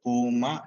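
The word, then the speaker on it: ܦܘܡܐ: അപ്പോൾ ഇത് നമുക്ക് ഒരിക്കലും പുമ എന്ന് ഉച്ചരിക്കാറില്ല, പൂമ എന്നാണ് പൊതുവെ ഉച്ചരിക്കാറുള്ളത്. അത് നമുക്ക് സാവകാശം. കാരണം ഊവിനും രണ്ടിനും ഒരേ വവല് തന്നെയാണ് ഇവിടെ ഉപയോഗിക്കുന്നത്. അതുകൊണ്ട് ഇത് പൂമ എന്നാണ് പറയുന്നത്, പൂമ.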